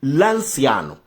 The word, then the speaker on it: Lanciano: Milagre eucarístico de Lanciano pronuncia Lanciano OK L a N C de Itália a N. Lanciano. OK.